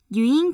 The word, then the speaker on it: Ewing: 간단한 실험 장치가 있습니다 스코틀랜드의 물리학자이자 공학자인 유잉 경의 저서에서 언급된 장치라서 보통 유잉 장치라고 합니다 이잉이라고 읽으면 안 돼요 예를 들어 금속막대의 가운데에